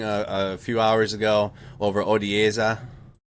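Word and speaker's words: Odesa: few hours ago over odieza it's not odessa i know that that's texas i know you guys it's a different a pronunciation you see the anti-air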